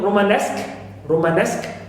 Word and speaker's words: Romanesque: Ask also one of the other also stress receiving and attracting suffixes, like in Romanesque. So here also we have nesque also is carrying primary stress, distressed.